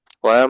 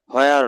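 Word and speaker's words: where: ওয়ার মানে কোথায়, হোয়ার নয়, এটা ওয়ার হবে। হোয়ার, আমরা তো সারা জীবন হোয়ার বলেই চলে আসছি স্যার। হ্যাঁ, এটা সাইলেন্ট রাখবেন।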